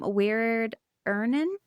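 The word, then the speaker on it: Wiard Ihnen: In 1940, she married art director um Weird Ern is how you say his name.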